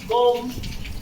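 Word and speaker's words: comb: कहते हैं यदि किसी स्पेलिंग में एम के बाद बी आए तो प्रायः बी का उच्चारण नहीं होता है, बी साइलेंट हो जाता है। फॉर एग्जाम्पल बॉम, कॉम, थम।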